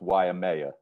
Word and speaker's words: Waimea: a wanker but i gotta correct you it's pronounced waimea yma i knew i was gonna pronounce it